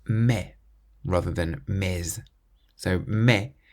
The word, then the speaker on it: mais: So, me with a silent s on the end.